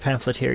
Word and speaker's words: pamphlet_tyr: They're all pronounced pamphleteer.